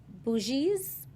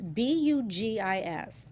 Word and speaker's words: Bugis: The bougies. Bourgeoisie? Boogies. Bourgeoisie? No, not bougie. Bourgeoisie? No, it's Bugis. B-U-G. And they're from, it's a largest ethnic group in Bugis? Indonesia. Bugis.